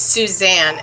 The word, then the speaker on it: Suzanne: why did he kill susan again it's suzanne as she would she would in spirit she would correct me and say it's not susan it's suzanne it's s-u-z-a-n-n-e that's how her name is spelled she wants to clarify